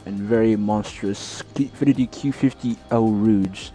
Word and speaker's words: Eau Rouge: and very powerful and very monstrous Infiniti Q50 Eau Rouge. It's pronounced that way, Eau Rouge, named after the famous corner at Spa-Francorchamps, one of my favorite courses in the world.